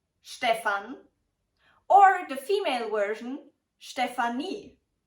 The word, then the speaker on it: Stefan: also different variations and spellings of this name Stefan Stefan or the female version Stephanie zaxtons can you guess the pronunciation I will quickly show you five other